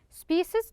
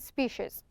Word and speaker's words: species: to notice you that this species we can pronounce by two ways species and species sporic which means having